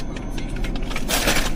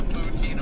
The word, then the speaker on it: poutine: So, I'm glad I didn't try the poutine cuz I was making a poutine of my own. I said it wrong, too. I got out there. Can I get a poutin?